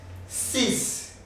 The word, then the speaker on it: six: six easy sis sis it can be c without pronouncing the x when maybe it's followed by any other digit like c so the x cannot be pronounced because there is another word which is following the number c college but if it is only this number at the single it is it sees we have set set